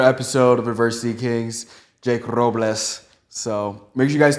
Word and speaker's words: Robles: Jake Robles, ROBLES.